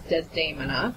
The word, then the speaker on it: Desdemona: And basically, my character was Desdemona, but in Italian it's Desdemona, and she is singing